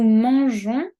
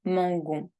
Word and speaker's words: mangeons: Nous mangeons au restaurant ensemble. Nous mangeons. Tengo que añadir la E para poder pronunciar jon. Si no, diría mangon. Et ce n'est pas correct.